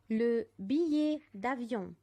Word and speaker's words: billet d'avion: شوفوا بنطقها ازاي. la réservation. la réservation. réservation. la réservation. le billet d'avion.